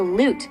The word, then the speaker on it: lute: another instrument called the loot which rhymes with flute look who's in